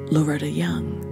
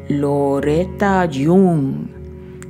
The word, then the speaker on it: Loretta Young: He liked Loretta Young. Loretta Jung is how he pronounced it in his best Carlos Gardell Estania voice.